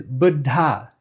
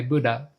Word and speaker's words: Buddha: When I pronounce it correctly, there's a double consonant. The second consonant is aspirated. When I pronounce it the American way, Buddha, there's only one D, one consonant, and it's not aspirated.